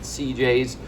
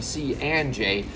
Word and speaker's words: C&J: cnj family pizzeria and i may have mispronounced it earlier i probably said cj's but i have taken note it is truly c and j we are here in